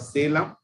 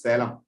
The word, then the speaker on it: Salem: only I am at Salem. Actually, you are pronounced as Salem, but it is called in Tamil. It is my actual pronunciation is Salem. You are given stress to E.